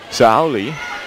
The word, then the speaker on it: Saori: Inoue says the pronunciation's S-A-O-R-I. That's Saori Kimura is Saoli. So it's almost like an L sound.